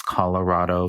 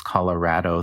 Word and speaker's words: Colorado: that that ties into this Colorado versus Colorado thing yeah um where where Colorado is a much more Anglo pronunciation of this word right because the the vowel in Spanish is a right so it it